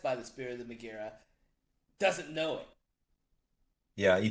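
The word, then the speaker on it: Megaera: The Megara. It is Megara.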